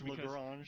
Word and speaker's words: Lagrange: Is it Lagrange or Lagrange? It's Lagrange. I think depending upon what part of America or the part of the world you're from, it could be a different pronunciation there. You know, Daryl reminds me all the time it's Lagrange, but if you're from the South, it's probably something else.